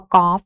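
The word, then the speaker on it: กอล์ฟ: คือ ลิง นะ คะ แล้ว ก็ คำ ว่า กอฟ นะ คะ ก็ ตัว การัน อยู่ ที่ ตัว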